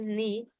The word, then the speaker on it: knee: It's pronounced as knee, and the K sound is absent.